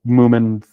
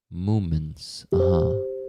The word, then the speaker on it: Moomin: send you a little Moomin thingy on Telegram here so you can see what they look like.